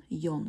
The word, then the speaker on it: Jon: То есть он, Jon, да, помните, что «е», вот эта буква «J» английская, она у нас в норвежском всегда произносится как «е», «е».